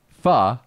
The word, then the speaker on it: pho: is that actually how you say it yeah Fah Fah oh I called pho is there any